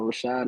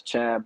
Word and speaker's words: Rachaad: mom we yeah so Rashad is spelled different so some people might see it as Chad but it's shot um that's what my